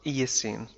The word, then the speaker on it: Eocene: أثناء العصر الأيسوني إيسين إيسين تنطق إيسين أثناء هذا العصر during the Eocene.